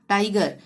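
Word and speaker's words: tiger: Give, gate, girl, चाहे आई आ रहा हो चाहे ई आ रहा हो, यहाँ पे ग का ही उच्चारण होगा। टाइगर, इनको आपने अच्छी तरह से याद कर लेना है इन शब्दों को, ठीक है।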